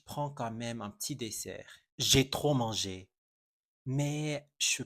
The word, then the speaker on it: dessert: Dessert, repeat after me. Dessert. En français, dessert s'écrit avec 2 S. Quand tu vois 2 S en français entre deux voyelles, on prononce un S, pas un Z.